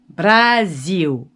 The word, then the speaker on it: Brasil: une très bonne question brésil en portugais ça s'écrit comme ça avec un as et ça se dit brazil et si tu veux